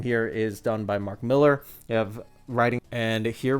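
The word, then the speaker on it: Millar: I always try saying Mark Malar. I know that it's pronounced or technically pronounced Miller, but Mar said on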